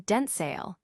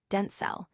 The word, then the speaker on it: Denzel: Washington set the record straight, stating that the correct pronunciation is a more concise, Denzel, featuring a short L sound, similar to the end of the word able.